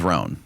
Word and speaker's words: Rhone: And on top of that, all my other clothes are always wrinkled, not with Roan.